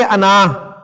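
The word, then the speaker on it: أنا: बता चुका हूं कि दो तरह से प्रोनाउंस किया जाता है, इसको जब आप इकट्ठा बोलेंगे तो अना, लिखने में ये आपको अलिफ के साथ नजर आ रहा है ना, यानी आप इसे पढ़ेंगे अना, वैसे उर्दू के अतबार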